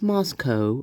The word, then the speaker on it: Moscow: Master Nature, do you know it's pronounced Moscow?